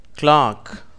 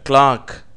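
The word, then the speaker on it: clerk: நீங்கள் திருப்பி சொல்லிப் பாருங்கள் கிளாக் இந்த வார்த்தை ஆங்கிலேயர்களாலே இப்படியாக கிளாக் என்று உச்சரிக்கப்படுகிறது அமெரிக்கர்கள் இதை கிளர்க் என்று சொல்லுகிறார்கள் onion Mellon cabbage water melon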